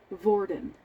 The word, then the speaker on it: Vordon: he go um and his name is vordon it's like Gordon but with a V and not really spelled